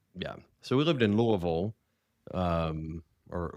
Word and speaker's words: Louisville: But for people that that live there if you hear somebody say Louisville you ain't from around here. It's all one syllable to us. Anyway, we we lived in Louisville for a few years um before moving to Cincinnati.